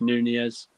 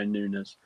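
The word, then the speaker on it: Núñez: say his name now nunes nunez because apparently we've been saying it wrong when we say nunas darwin charles and i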